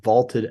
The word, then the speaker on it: VLTED: That is on the Vaulted app, VLTED, pronounced vaulted, a new sports prediction app that turns your opinions into facts.